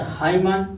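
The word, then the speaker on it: hymn: इसे हाइमन, यम यन साथ में है तो यन साइलेंट हो जाएगा, इसे हाइमन हो जाएगा।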